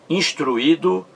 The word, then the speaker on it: instruído: Instruído e intuir. Vamos lá. Veja as sílabas aí de instruído. Instruído. Instruído. Instruído. A sílaba mais forte, como você vê, está no segundo I.